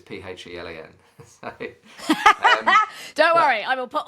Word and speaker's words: Phelan: But everyone thinks that Phelan is spelled with an F, but it's Phelan.